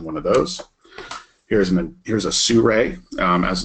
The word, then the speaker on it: Sirui: Here's a Sirui, as it's pronounced.